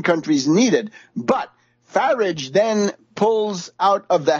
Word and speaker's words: Farage: And we know that Grillo has sealed an alliance with Nigel Farage, rhymes with wreckage or garbage.